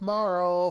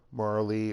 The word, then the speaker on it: Marle: Or Marley, or however people pronounce it. I never pronounce the E. I guess it could be Marley, or Marla. Okay. But I always said Marl.